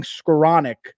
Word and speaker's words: Skowronek: Do you know how to pronounce that last name? Skowronek?